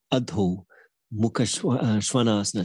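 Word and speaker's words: अधोमुखश्वानासन: Still yet to hear yoga teachers say it right. I'm trying to instill it in people. Adho Mukha Svanasana. So the Adho bit is the bit people often get wrong. And Adho means down.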